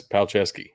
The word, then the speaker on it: Palczewski: ridiculous right because it's polish it just that's palcesky what else are you gonna call it noiskey